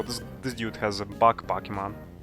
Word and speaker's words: Pokémon: But sometimes I use Pokemons. Although I heard that the proper pronunciation is Pokemon. It doesn't matter is it singular or plural. It's just Pokemon.